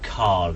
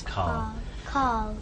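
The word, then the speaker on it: Karl: No, Carl. His name is Carl. Carl. K-A-R-L. Carl. Carl. Yeah. Carl. Carl. Yeah. Carl. It seems like without an R. Yeah, I think it's my accent rather than.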